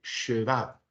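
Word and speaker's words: שְׁוָא: vamos a llamar el sheva. Sheva. Imagínense decir la expresión él se va, pero vamos a poner la shin. Sheva.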